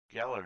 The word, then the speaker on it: Galar: Galar region. That's how you pronounce it.